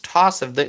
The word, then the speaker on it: Tausif: It's the same spelling, but it's pronounced differently. So people from different parts of the world, they may read my name and they may pronounce it differently. Even if I tell them, hey, it's Tausif, they may just pronounce it a little differently.